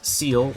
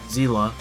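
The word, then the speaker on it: Seele: Another example is Seal, or Zila, whichever pronunciation you prefer I guess, where she gains an extra turn by defeating an enemy.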